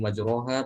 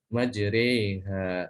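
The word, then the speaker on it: مَجْرٰىهَا: membaca Al-Quran kok masih majroha, tolong diingatkan. Kalau riwayat Hafaz tidak demikian bacanya, tapi dengan dibaca majreha ya, seperti mengucapkan kata e-nya seperti membaca meja gitu ya. Meja, majreha.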